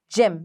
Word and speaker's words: gym: It's after it a Y. So soft G. J, E, M. Gym.